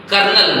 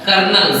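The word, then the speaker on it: colonel: ओ एम इ एल इसको पढ़ाया जाता है कर्नल क्या पढ़ाया जाता है कर्नल सी ओ एल ओ एन एल कर्नल number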